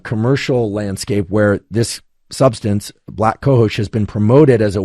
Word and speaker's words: black cohosh: moment, of something like black cohosh. I think that's the correct pronunciation. It's literally the word black and then COHOSH.